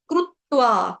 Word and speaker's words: कृत्वा: कंग कंग उसके बाद कृत्वा ये क आपका आधा है रू संस्कृत में रू होता है हिंदी में हम कृ कह देते हैं कृत्वा लेकिन संस्कृत में हमारा जो शुद्ध उच्चारण होता है वह क्रू होता है संस्कृत में री नहीं होता कृ नहीं होता क्रू कृत्वा कृत्वा कृत्वा त आधा कृतवा तवा नहीं बोलेंगे रोटी पकाने वाला फुल्का